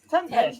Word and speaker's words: Tempest: I just said it you pronounce it with an st not just an S Tempest yeah's a t at